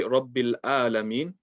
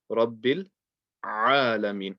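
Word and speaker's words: رَبِّ الْعَالَمِينَ: So you don't want to say Rabbil alamin. You want to say Rabbil alamin. Get the ain nice and clear, inshallah.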